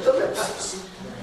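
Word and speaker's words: θλῖψις: You'll say thlipsis. Amen. Amen. Do I need to spell it again?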